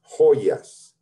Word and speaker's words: joyas: quickly jewelry las joyas remember that j is pronounced as if it was an h as if it was an h so think of this as an h las hoyas the gel you put